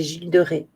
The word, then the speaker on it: Gilles de Rais: Oui, moi je le dis, ouais, normalement c'est Gilles de Rais. Ça s'écrit comme ça. Attendez, je vais vous le noter. Voilà. Mais normalement, ça se dit pas. Ça, on ne dit pas le S.